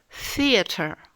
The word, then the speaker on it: theater: Par exemple, theater, theater, le théâtre. Theater. Vous ramenez la langue en avant tout en prononçant le son F, feu.